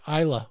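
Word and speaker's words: Islay: that comes from the island they call it ila over there it's build is La why I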